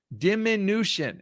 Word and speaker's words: diminution: I said it right. Yes. Wait, no, I didn't. Diminution, Aaron. Diminution.